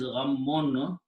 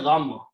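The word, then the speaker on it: غمّ: Two shaddas, two memes with a shadda. Ghammun, we say gham. Okay, that is also the word in Urdu. We pronounce only one meme, gham. Actually, the full word is two memes.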